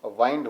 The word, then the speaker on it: wind: अब यहां पे देखिए इसका प्रोनाउंसिएशन वाइंड हो गया है क्योंकि ये वर्ब है और ये नाउन है। ये विंड होता है, हवा के लिए आया है, और ये वाइंड है, ये लपेटने के लिए आया है।